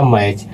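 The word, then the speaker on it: match: यहां पर हो जाएगा दोस्तों टी साइलेंट। यानी कि इसको पढ़ते वक्त टी को साइलेंट पढ़ करके पढ़ेंगे। तो ये हो जाएगा मैच।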